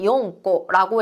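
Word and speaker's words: 四個: 4개라고 할 땐 용꼬라고 해서 이 용에다가 써줄 수가 있는 거죠.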